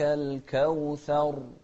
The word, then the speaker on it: الكوثر: إنا أعطيناك، إنا أعطيناك الكوثر. الراء هني قلنا لا يعني هروبنا من التكرير أن ننطق فيها بواو الكوثر، لا، الكوثر. إن التكرير الزائد هو الغير مطلوب، فما يجوز لنا أن